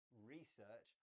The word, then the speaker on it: research: Beth, you said research. I say research. It's just a change in word stress, and both are fine.